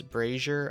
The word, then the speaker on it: brazier: Until the community can figure out how to pronounce brazier, I have no hope for these things. How is the community pronouncing it? Brazier, like the women's undergarments.